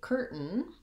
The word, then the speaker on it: curtain: sound then um secondly curtain looks like it should have more of a vowel sound in the second syllable like tane typically when we have a i it says the vowel a but in this case it uh you can see here in the ipa from the dictionary that there is no